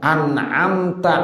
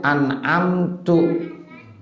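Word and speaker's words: أنعمتَ: Contohnya ya, an'amta alaihim, dibacanya an'amtu. Nah, kan beda artinya ya. An'amta sama an'amtu beda nggak? Beda. Tu sama tak beda. Kalau an'amtu saya, kalau an'amta engkau.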